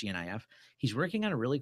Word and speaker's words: GNIF: And directly to this, there's a forum that I linked to where a coder named, I must pronounce it GNIF, it's GNIF.